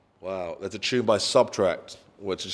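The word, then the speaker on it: SBTRKT: artist brand um wow that's a tune by subtract which is spelt s b t k so sbt k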